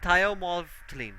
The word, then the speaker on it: thymolphthalein: Now methyl orange, phenolphthalein, and thiomolphthalein, right?